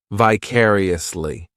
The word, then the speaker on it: vicariously: This adverb has five syllables and the stress is on that second syllable, vicariously. The third syllable, it's like that letter I, just has that e sound. And the fourth syllable has the schwah.